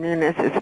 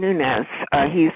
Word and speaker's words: Nunes: The first thing is you pronounce Devin Nunes' name right. He's Portuguese. He does not have a tilde over his the N in his name, and it's like fingers